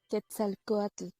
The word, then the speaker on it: Quetzalcóatl: el maestro cómo se llama lequia como se pronuncia Quetzalcóatl gracias no me iba a salir y entonces